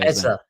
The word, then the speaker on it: Eze: Eza is how you say ezer.